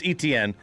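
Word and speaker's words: Etienne: Travis Etnen uh has has told us that it's not exactly how he pronounces his last name anyway. So it growing up it Travis Han.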